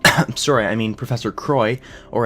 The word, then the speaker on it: Croix: sorry I mean Professor Croix or as it should be pronounced quoi in French shows up to tell